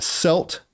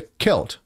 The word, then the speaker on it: Celt: C E L T is a selt. Um and then there's a Kelt, right? A Kelt is a member of an ancient culture. A selt is a stone knife without a handle.